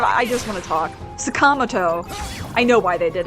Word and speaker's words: Sakamoto: But it's very easy to learn last names in Japanese that have the 4 syllables because it's just down, up, down.